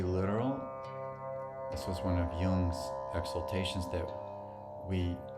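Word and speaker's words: yam: for the heart is young you might see it written as y-a-m but that m is pronounced as a lingual and the um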